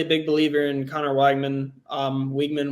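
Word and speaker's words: Weigman: big believer in Conor Wagman um wigman Wagman however you pronounce it um but actually wigman wigman okay was over two um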